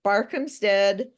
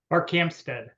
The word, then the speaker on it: Barkhamsted: Barkhamsted, Connecticut. Was I anywhere close? Barkhamsted. Barkhamsted. Accent on the wrong syllable.